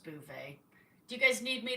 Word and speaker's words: Beauvais: I think it's pronounced Beauvais.